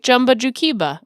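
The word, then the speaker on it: Jumba Jookiba: I mean, I thought it was Jumba Jukiba. Yeah, you got it right. Jumba Jukiba. Okay. Yep, pretty easy. It's phonetic there.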